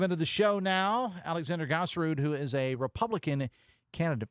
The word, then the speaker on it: Gaaserud: And I want to make sure that everybody across the state of West Virginia knows the correct pronunciation. Gaaserud. Gaaserud. Yes, Gaaserud.